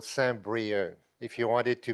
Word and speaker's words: Saint-Brieuc: I'm from a town called Saint-Brieuc, if you want it to be pronounced correctly.